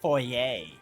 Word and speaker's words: foyer: Actually, it's pronounced foyer.